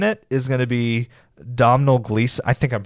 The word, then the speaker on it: Domhnall Gleeson: The big lead in it is going to be Domhnall Gleeson. I think I'm pronouncing his name right there, but Domhnall Gleeson, that you will know as General Hux in